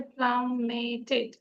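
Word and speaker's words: plummeted: আর এখানে হচ্ছে দ্য জেট প্লামেটেড, উচ্চারণটা হচ্ছে প্লামেটেড, এটা অর্থ হচ্ছে নিচে পড়ে গেল।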